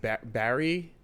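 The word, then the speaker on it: Barrie: Is it Barry? How do you Hey, babe. Yeah. What's Is it Barry in Ontario? Barry.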